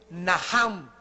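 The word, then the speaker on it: נחם: La primera palabra que se usó en el Antiguo Testamento es naham. En el hebreo que se escribe nach. La ch en el hebreo se pronuncia como J.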